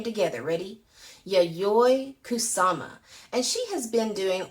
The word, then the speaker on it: Yayoi Kusama: yayoi kusama let's say her name together ready yay kusama and she has been doing art since she